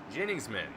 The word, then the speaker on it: Jenningsman: One of them being Chad Jenningsman is how I have been told that is correctly pronounced.